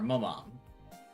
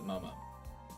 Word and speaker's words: Momo: Who is Momo to you? What are you talking about? Who's Momo? Or Momom? Oh, she's saying her name wrong. Oops. Nono glanced at Momo.